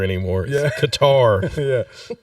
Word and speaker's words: Qatar: we don't have to pretend it's called It's pronounced cutter anymore yeah Qatar yeah it's like oh no oh you're calling it guitar it's really cutter yeah what are we saving for the for